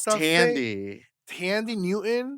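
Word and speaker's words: Thandie: Tandy. Tandy Newton? Tandy Newton is how you pronounce That's not the girl from Greece.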